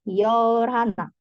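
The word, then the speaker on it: 열하나: b-nya tidak dibaca ya untuk angka 11 berarti yabun tinggal tambahkan 10+ 1 berarti yorana yorhana Hnya tidak dibaca jelas ya yorhana angka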